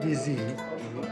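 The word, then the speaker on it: Dizi: How do you pronounce the specialty here, Dizzy? What they serve is called DZ, which actually is the name of the pot.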